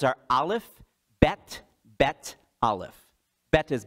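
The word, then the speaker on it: beth: the letters are aleph bet bet aleph beta's b e t h by the way that's but it's pronounced bet aleph bet bet aleph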